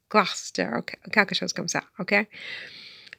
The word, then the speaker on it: Gloucester: it's spelled it's spelled Claus saster but it's pronounced Gloucester okay shows comes out okay but you know